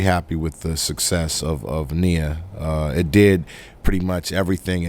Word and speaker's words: Nia: Actually, how do you pronounce Nia or Naya? Nia.